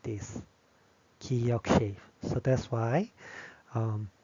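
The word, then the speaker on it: 기역: This one we say giyeok. giyeok Which is g sound, ga.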